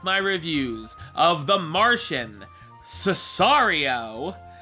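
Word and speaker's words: Sicario: Next week, I will be back with my reviews of The Martian, Cesario. I think that's how you say it. I know it's not Cicero, because Benicio del Toro said so on television.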